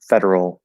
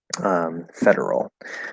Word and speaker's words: federal: Those are federal laws. Federal. It's a nice word for pronunciation. Has a R and an L in it.